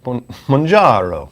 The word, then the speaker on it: Mounjaro: How do you pronounce it? I say Mounjaro, but like... Come on. Mounjaro.